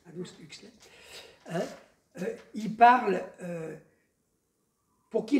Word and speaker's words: Aldous Huxley: On pourrait, pour ceux qui connaissent l'auteur, j'arrive jamais à dire son nom, Aldous Huxley, c'est comme ça que ça se prononce? Non, c'est comme ça que ça se prononce, Aldous Huxley.